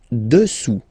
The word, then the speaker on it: dessous: Dessous. Dessous. Final S not pronounced here.